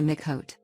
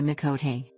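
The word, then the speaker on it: Miqo'te: a crazy cat person no offense to the mikhote oops i mean the mikote see what i'm getting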